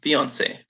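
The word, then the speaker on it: fiancé: So I have a fiance. Fiance. How do you pronounce it, Jane?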